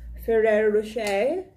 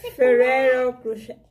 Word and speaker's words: Ferrero Rocher: Sophia got a surprise egg from Ferrero Rocher. Yeah, do I pronounce it correctly? Ferrero Rocher. Ferrero na nga lang, Diyos mio, garapon. Okay, Sophia got surprise egg from Ferrero Rocher, the golden experience.